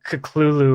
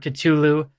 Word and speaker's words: Cthulhu: for his name like Lovecraft himself pronounced it like really bizarrely it was like uh caculu or something and I've also heard katulu but I just like Cthulhu that's what I'm most